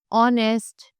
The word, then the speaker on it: honest: Other than these vowels, जो कि है एक साइलेंट एच। जैसे कि हमें एग्जाम्पल दिया गया है एन ऑनेस्ट मैन और एन आर, राइट।